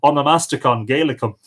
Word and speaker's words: Onomasticon Goedelicum: like what what is amo master Congo adèle alaikum well as it happens there's an easier way to pronounce it which is on a master con gala come now onomastics is the